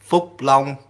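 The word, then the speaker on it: Phúc Long: In Vietnamese is flong, but in uh English pron pronunciation is long.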